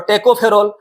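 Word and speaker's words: tocopherol: तो इसमें स्पेलिंग में ई नहीं है, शुरू में ओ है, टोकोफेरोल, लेकिन हम लोग याद करने के लिए ई को लाएंगे, ई को हम लोग याद रखेंगे।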